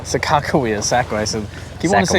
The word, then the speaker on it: Sakakawea: lake sakakuya how do you say it second sakakawea sakakawea sacramento do you want to say sakura you